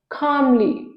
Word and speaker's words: calmly: y ceremony next is calmly calmly c a l m l y here L is silent calmly next is canvas